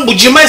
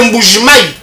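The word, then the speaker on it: Mbuji-Mayi: Quand nous on parle de Kichanga, c'est comme ça se prononce là-bas. Ça s'appelle pas Mbujimai, c'est Mbujimai.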